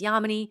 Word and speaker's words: Yamini: first met she said my name is Yama knee and the way you can remember that is it rhymes with harmony which I loved anyway